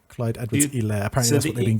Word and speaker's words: Clyde Edwards-Helaire: It's a silent H, and it's Helaire. Clyde Edwards-Helaire.